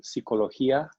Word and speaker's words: psicología: And luego las clases, inglés, español, psicología, notice the P is silent, sociología, geografía, química, etc.